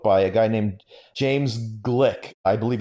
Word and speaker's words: Gleick: from a book by a guy named James Glick. I believe it's spelled Gleick, and the book is just called Chaos.